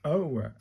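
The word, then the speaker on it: を: It's pronounced like the OH in woa, with a silent W. So it's an oa, isn't it?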